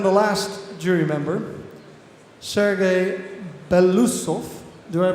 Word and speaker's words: Beloussov: And then the last jury member, Serguei Beloussov. Do I pronounce it well? What? Do I pronounce that well? More or less. How do you pronounce it in Russian or Ukraine? Beloussov.